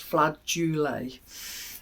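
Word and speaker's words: flageolet: um flul beans um I did have to Google if the correct pronunciation because I I was looking I was thinking FL do not right so it's flat jle uh beans and yeah just an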